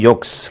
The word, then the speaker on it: yolks: egg yolks. 계란 노른자를 egg yolk라 그러죠. 그죠? L은 묵음이고, 계란 노른자.